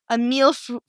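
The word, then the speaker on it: mille-feuille: a meal f i we need to get a pronunciation on that I need a pron iation a meal fre it's m i l l e f u i l l e that is a French pastry if I've ever heard one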